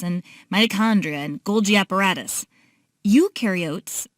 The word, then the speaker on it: eukaryotes: mitochondria and Golgi apparatus eukaryotes the you rhymes with do they do have membrane